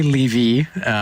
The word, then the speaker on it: Levy: I'm very excited to have Levy is the pronunciation, right? Yeah, I say Levy, which confuses a lot of people, but I don't correct people too often unless they ask, so it's all good.